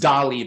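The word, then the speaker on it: DALL·E: uh uh e yes e so but it's pronounced doly by the way and I believe I'm looking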